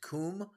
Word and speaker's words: Cwm: Valley known as the Western Kum right it's uh actually spelled cwm but it's pronounced Kum and they've got to